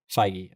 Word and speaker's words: Feige: You said that's how Kevin you pronounced Feige. it last time. Feige.